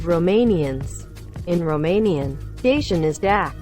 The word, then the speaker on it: dac: In Romanian, Dacian is dak, pronounced like the English duck, and Thracian is track, pronounced like the English truck.